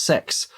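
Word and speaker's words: CeX: games and it's uh it's spelled c e x but pronounced sex so my son is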